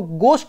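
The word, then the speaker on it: ghost: गोष्ट गोष्ट मतलब बहुत इसको गोष्ट बोलते हैं हा साइलेंट है ना इसे आईटी सम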